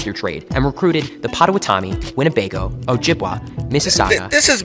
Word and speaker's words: Potawatomi: I've listened to native because the Potawatomi are from the Great Lakes region. I'm in Chicago, so Great Lakes region. I've gone to Michigan and Wisconsin and spoke to people who pronounced it Potawatomi.